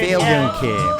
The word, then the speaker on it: Philjung Kim: Right, Yeah, your pronunciation is good. Philjung Kim.